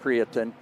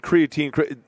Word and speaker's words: creatine: And so now we know so much more about creatin that um and I've heard creatine. So it's creatin is the correct pronunciation, right?